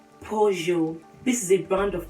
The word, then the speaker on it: Peugeot: Please, it's not Peugeot. It is Peugeot.